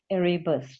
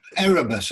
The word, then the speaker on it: Erebus: of the ship called eribus to have i said it right no no well erebus i think but i don't know